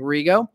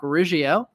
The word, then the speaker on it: Riggio: I've been saying Rigo. Totally missed that second I. Rock Riggio.